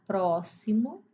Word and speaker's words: próximo: E na palavra próximo se escreve com X, mas o som é de S.